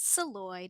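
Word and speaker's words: Szalay: I will voice over when I know how to pronounce your last name. It's Saloy, David Saloy.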